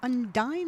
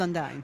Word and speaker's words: Undine: Now, when I learned to row there, it was Undine. it was Undine. But apparently it is pronounced Undine.